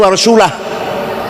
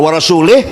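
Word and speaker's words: ورسولُه: Bacanya wa rasulah. Kalau wa rasulih, Allah tidak melindungi orang musyrik dan tidak melindungi Rasulullah.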